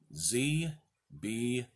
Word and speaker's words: Zby: twice you'll get it the letter Z followed by B Y pronounced ZB why do they name